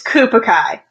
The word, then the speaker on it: Koopa Kai: It's Koopa Kai. So if you think of like Cobra Kai, the show Cobra Kai where they do the karate, but it's like Koopa Kai.